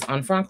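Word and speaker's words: Anne Frank: the diary of Anfrank, which we are pronouncing correctly as Anfranc, but whenever I say the diary of Anfranc, people make fun of me.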